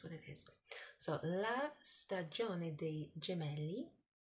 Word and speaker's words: Stagione: Stagione. So the E, la lettera E in italiano si pronuncia E. A bit like the E in the word egg in English.